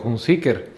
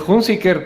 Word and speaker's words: Hunziker: Hoy me preguntaban que si es Hunziker o Hunziker. Y la verdad es que es Hunziker, pero he encontrado que si pronuncio Hunziker, la gente no me pregunta ¿ah?